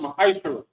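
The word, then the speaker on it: מעשר: Which means 10 in the Hebrew is pronounced ma'ashara.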